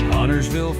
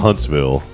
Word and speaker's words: Huntsville: Huntersville folks. Huntersville. I like how it said Huntersville. It's Aw. called Huntsville.